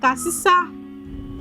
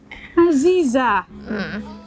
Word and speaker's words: Aziza: It's not like Asisa. Please help me educate them. It's not Asisa. Aziza.